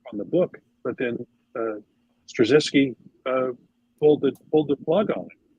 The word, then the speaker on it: Straczynski: Michael Straczynski, I think is how you pronounce his name.